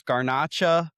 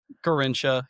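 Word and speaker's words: Garrincha: Um so I guess he was the child that couldn't pronounce it. Um, so he's 17 years old. There's Garnacha, uh, and another, uh, really good striker for the Brazilian, right? Garincha.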